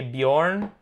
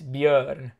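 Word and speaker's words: Björn: so most people say Bjorn because they don't have the o with two dots so the o with two dots um is the umlaut it's pronounced in Swedish it's ER it's like uh it's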